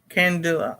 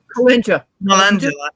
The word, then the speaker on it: Calendula: It's going to be the day that I cannot pronounce the name. Candula. No, Candula? Calendula.